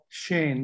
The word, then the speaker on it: Sen: how it sounds like my name sudeep sen as you read it is really shane because we we have three s's and we use a